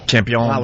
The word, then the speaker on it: Campeón: Campeón with the accent and everything. Mundo. Yeah, I'm a very authentic Campeón. accent. I don't know if I mentioned that. Yeah, Campeón del Mundo.